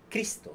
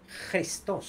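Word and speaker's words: Χριστός: escribe Cristo o sea Cristo en griego no se dice Cristo sino se dice cristos como cutural como J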